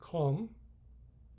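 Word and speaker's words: comb: The B in com, pronounced. The B in com is not pronounced. Telaffuz edilmez. That means we don't pronounce B in com. So the B is not pronounced. It is silent.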